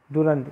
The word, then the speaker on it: Durand: जाता है दुरंद line, दुरंद या DURAND, डुरैंड, इसको जैसे भी आप प्रोनाउंस करना चाहें। आप कर सकते हैं।